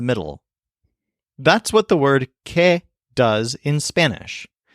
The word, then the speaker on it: que: Spanish language the word K which means that this word is pronounced kind of like the English letter K but it's actually spelled